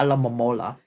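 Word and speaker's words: Alomomola: Alamola. I know it's pronounced alamola.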